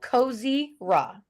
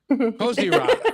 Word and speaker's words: Kozyra: It's like Kozyra. Kozyra.